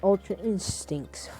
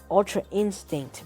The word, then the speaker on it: Ultra Instinct: And this is not Ultra Instincts, folks. This is not Ultra Instinct. Ultra Instincts, oh my gosh, I think I butchered that, bro. Ultra Instinct, bro. Ultra Instinct. It's not Ultra Instincts, bro.